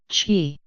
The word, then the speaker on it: qi: Qi, qi. Qi, pronounced qi in English, is a movable positive or negative life force which plays an essential role in Feng Shui.